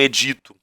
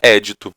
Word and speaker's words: édito: Alguns falam edito, também tem a pronúncia édito, tá?